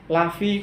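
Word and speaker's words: لفي: Bapak Ibu, cara bacanya di situ harus tepat ya. Lafi. Fi itu apa artinya Bapak Ibu? Di dalam. Lafi. La apabila kita panjang la gitu ya, itu akan berubah arti menjadi tidak.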